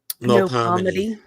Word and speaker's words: Melpomene: Clarissa Melpomene Mao. Yeah. How do you pronounce that middle name again? Melpomene.